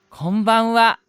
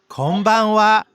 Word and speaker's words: こんばんは: こんばんは。こんばんは。 네, konbanwa라고 합니다. konbanwa의 konban은 한자를 보면 금만이라고 적혀져 있고 뜻은 오늘 밤이라는 뜻을 가지고 있습니다. 마지막 글자 하는 조사로 쓰여 와로 발음되는 것이겠죠?